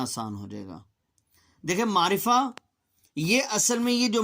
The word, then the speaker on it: معرفہ: اسم نکرہ۔ پروننسیشن دیکھ لیجئے اور اس کا تلفظ دیکھیے میں کیسے ادا کر رہا ہوں۔ اسم معرفہ، اسم نکرہ، کاف کے نیچے زیر آ جائے گی۔ معرفہ، دیکھیں اب یہاں پر ہم نے دونوں کے